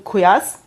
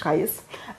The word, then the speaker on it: Qais: For example, we know in Medina, Zayd bin Thabit, in Mecca, Abdullah bin Saib, in Basra, Amir ibn Abdul Quyas, sorry for the pronunciation. Qais.